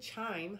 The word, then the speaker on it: chime: Did you know that the word chime has a long I? Ch, I, mm. The I is long and the E is silent.